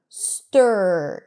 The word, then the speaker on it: stir: like in the word stir. Even though it's spelled with an I, you don't hear E, it's stir.